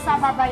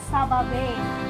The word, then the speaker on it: Sababay: Banyak banget nih yang mispronounce ngomongnya Sababay. Ayo, ada yang ngomong Sababay di sini pasti ada ya. Jadi kalau udah jauh-jauh nih datangnya not Sababay anymore ya, but Sababay.